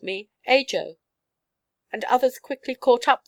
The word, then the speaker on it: Ajo: "In Spanish it would be pronounced Ajo. But we are not Spanish in Sangoa."